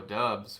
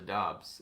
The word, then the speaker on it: Dobbs: We always called him Romeo Dubs when he was in college. And then in the NFL, he corrected it to Dobbs. And it's not spelled like that, and it's weird.